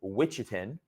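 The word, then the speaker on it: Ouachita: uh the witchin arogy yes that's how you spell that that's how you pronounce that I should say witchin okay the witchin orogy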